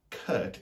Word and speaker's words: curt: Then there's also the name Kurt, as in K-U-R-T, which is the same as the word curt, C-U-R-T, which is when you are rudely brief.